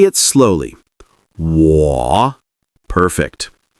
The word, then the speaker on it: 我: First, 我, meaning I or me. Say it slowly. 我. Perfect. This is a third tone, so your voice dips and then rises.